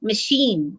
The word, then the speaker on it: machine: syllable that is stressed we can use a bigger circle like machine so uh i i here has been stressed so machine so a larger uh